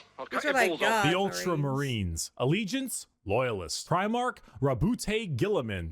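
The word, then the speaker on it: Roboute Guilliman: Primark Rabbout Gillamin. That's how Yeah, that's how it's said.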